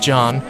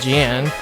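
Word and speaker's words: Jeanne: would be Jean from I think it's pronounced John instead of Jan from Bayonetta reason well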